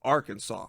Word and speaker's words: Arkansas: You pronounce Kansas, Kansas. But for some reason, when you put AR in front of it, it turns into Arkansas.